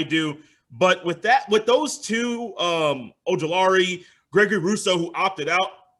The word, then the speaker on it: Ojulari: Azeez Al-Ajeri. I hope I said that name correctly. I'm trying to get better with names, bro, with this pronunciation and podcasting. Am I good with that? Azeez Ojulari.